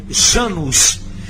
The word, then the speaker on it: Janus: O nome provém do latim Januarius e era uma homenagem ao deus Jano, que no latim pronuncia-se Janus.